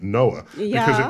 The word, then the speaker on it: NOAA: and Atmospheric Administration which which has the clever pronunciation Noah it monitors like floods and think that's how you pronounce NOAA yeah it's very it's